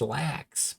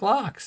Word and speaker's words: lax: The Norwegian word for salmon is lax, pronounced like locks.